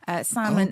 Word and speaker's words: salmon: origin of some of these words, but the pronunciation didn't change. So doubt, B, they stuck that in because the Latin dubitum, salmon, L, etc., etc.